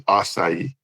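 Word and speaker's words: açaí: Yeah, some people pronounce the the C as a C, but I think the correct pronunciation is kind of an S pronunciation.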